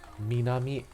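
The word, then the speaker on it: 南: like zero profit um minami minami is the kunyami so the japanese pronunciation the chinese pronunciation is none and the kanji for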